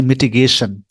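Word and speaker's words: mitigation: यानी मिटिगेशन। मिटिगेशन। मिटिगेशन, यानी रेशन पे थोड़ा सा जोर देंगे आप।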